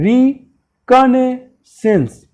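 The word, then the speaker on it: reconnaissance: ध्यान देना, इसको इसका प्रोनाउंसिएशन क्या होगा? रिकॉग्निसेंस।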